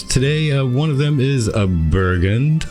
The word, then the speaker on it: Bergund: How's it supposed to be pronounced proper? Bergund.